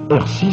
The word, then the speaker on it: Herchies: Hercy se prononce d'ailleurs toujours en patois local.